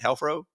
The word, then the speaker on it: Helfro: things you and all things hro did I pronounce it right hro yeah yeah sounds good man yeah let's do